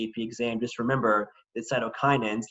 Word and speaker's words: cytokinins: a very important term cytokinins sounds like the word cytokinesis which is cell division